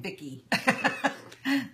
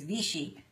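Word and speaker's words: Vichy: how to pronounce it I kept saying Vicki that's not right there's no K in there it's vichi it's a French product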